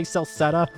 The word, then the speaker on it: Celceta: I was about to say, like, can I get somebody to say Celceta or something? I need to know how it's pronounced.